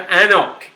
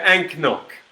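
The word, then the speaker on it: anCnoc: We're looking for Anok. Anok. Or, if you want to pronounce it phonetically, we're talking about Anknock, which is not, of course, how you pronounce it.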